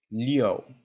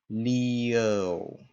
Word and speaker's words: Liu: This one is pronounced liu. So you have, again, a kind of an sound in there. Liu.